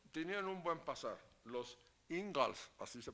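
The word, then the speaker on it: Ingalls: muy ricos pero Tenían un buen pasar los ingals así se pronuncia bueno eh Tenían un buen pasar pero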